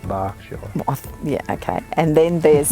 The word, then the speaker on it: Berkshire: There's Berkshire, and then it says Berkshire, but it's pronounced Berkshire.